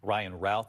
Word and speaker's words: Ryan Routh: Ryan Routh is how they've been pronouncing his name.